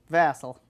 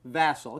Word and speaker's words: Vasel: Would you give me the pronunciation? Vasel. Vasel. Okay, what nationality is that? Polish and Spanish. Polish and Spanish. Okay, so is it Vasel? Is that the Polish side? It is.